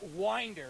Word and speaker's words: Winder: Oh, it is Winder.